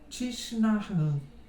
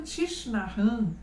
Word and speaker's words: Thich Nhat Hanh: O nome dele é meio estranho de pronunciar, não é? Porque ele só tem 2 vogais, todo o resto é consoante. Mas é algo desse tipo a pronúncia, Thich Nhat Hanh.